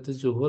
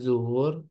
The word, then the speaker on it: zuhur: Sabtu di zuhur, kalau pernah dengar di zuhur, seharusnya zuhur, zikir, bukan de zikir, tapi zikir.